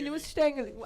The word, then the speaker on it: Nussstängeli: It's a Mini Nussstängeli. How do you want to kind pronounce of give that?